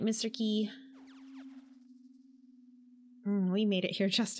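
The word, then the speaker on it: Qi: don't be shy now his name is spelled mr uh chi or ki but um honestly it's just interchangeable whatever works for you i like to call him mr key it is what it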